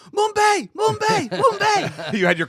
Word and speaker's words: Mumbai: short, Uber X, where one of the characters mispronounces Mumbai. Yeah. And he says Mumbai. Yeah. And there's a back and forth where the guy's like, no, it's Mumbai.